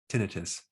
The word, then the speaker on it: tinnitus: Today, we're going to show you a technique on how to stop tinnitus, or you can pronounce it tinnitus.